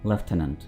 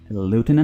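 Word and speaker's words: lieutenant: एक typing mistake देखिए इस वर्ड को हम प्रोनाउंस करते हैं लेफ्टनंट ठीक है लेफ्टनंट लेफ्टनंट इसको ना आपने लूटने बोलना है ना ही लेफ्टनंट बोलना है बल्कि क्या है लेफ टेनेंट लेफ्टनंट यही इसकी सही प्रोनंसिएशन है यह भी गलत है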